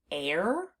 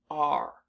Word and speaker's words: are: We pronounce this word r. So the unexpected part of this word is the e at the end because it's not doing the job that we expect it to do.